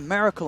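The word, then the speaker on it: Miracle-: It's literally spelt Miracle. Well, I mean, it's Miracle. I actually had to teach myself. It's like saying America, but Miracle.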